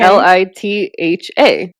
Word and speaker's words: Litha: LITHA. Oh, I love that. Yeah, okay. And you actually enunciate the H, unlike our maiden last name, that the H is silent.